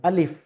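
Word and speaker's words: ألف: এটা এই উচ্চারণটা ভুল। এটা হলো উর্দু উচ্চারণ। সঠিক যদি আমি আরবি উচ্চারণ করতে যাই তাহলে আমাকে পড়তে হবে আলিফ। আর এখানে কোন টান হবে না।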